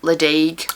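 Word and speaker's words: Ledaig: of sound of AA leig leig so that's a weird one where the D becomes a g which you wouldn't know unless you'd heard someone say it because there are places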